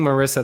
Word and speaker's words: Marissa: saying your name wrong it's Marissa that's right it's like Teresa with them ok so I apologize I've been saying Marissa this whole time so